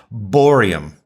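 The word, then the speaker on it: bohrium: 7 down and 7 across is borium. Is that how you pronounce it? Yep. Named after Niels Bohr.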